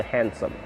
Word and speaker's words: handsome: a n d m that's silent d so handsome h-a-n-d-s-o-m-e handsome uh people